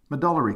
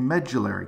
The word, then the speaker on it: medullary: call a marrow cavity sometimes this is called a medullary cavity or a medullary cavity or a metallary cavity all three pronunciations are correct the epiphysis is the